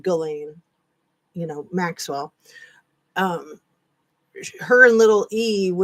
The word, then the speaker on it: Ghislaine: So, little E and and Gal Galain, is that I think that's how you say her name. It looks like Jazelle or something like that, but it's just Galain, you know, Maxwell.